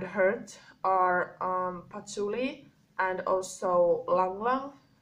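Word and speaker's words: ylang-ylang: So good oils for like this anger and hurt are patchouli and also langlang. It is spelled with Y, so it's like langlang with Y.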